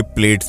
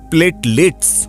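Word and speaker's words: platelets: गिर जाती हैं, और आम लोग इसे प्लेट्स भी कहते हैं, लेकिन ये गलत उच्चारण है दोस्तों। प्लेटलेट्स होता है जिसकी वजह से शरीर टूट जाता है।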